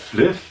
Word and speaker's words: Flyff: Das spricht man doch nicht Fly aus, du Vollidiot. Das heißt Fliff. Fly for fun.